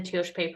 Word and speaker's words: Tiospaye: and graduates from the teosh pay program and for those that are listening if you want to know how to say it correctly you say it fast that's what Dr Kirk